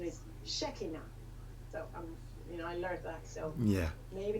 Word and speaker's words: Shekinah: I know how Shekinah yeah some people say Shekinah in the United States but the correct pronunciation is shaky now yeah maybe it's messy ox oh I'm sorry